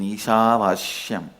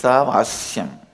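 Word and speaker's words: ईशावास्यम्: Listen, my pronunciation Ishavashyam is also Padabeta. How I heard from my masters, I am repeating, but actually it is Isavasyam.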